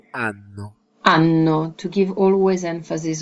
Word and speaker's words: anno: Anno. Anno. So it's important to put the stress on the N, right?